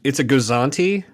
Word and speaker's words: Gozanti: How do you pronounce this freighter? It's a Gozanti, a Gozanti class Imperial freighter.